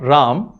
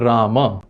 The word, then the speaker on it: Rama: Now, because of schwa deletion phenomenon in a lot of northern and western Indian languages, it's ubiquitously pronounced as Ram and even spelt as Ram.